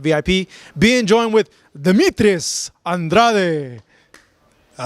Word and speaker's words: Andrade: of ver my pride my family that's how they pronounce it Andrade and then you know